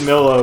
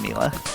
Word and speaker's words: Milo: now Miller I expected Milo would be a character that we would see many of after the online update me too also it's pronounced Mila was that right yeah